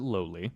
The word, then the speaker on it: Lolly: to me the almighty Lolly yeah berserk Saga full cut some people pronounce it lowly doesn't really matter but uh he doesn't he literally says lolly in in the video well he's